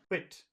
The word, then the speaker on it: quit: two number three qu quit you hear the difference Qui quit Qui and quit yeah number number three has a very short duration Alex can you say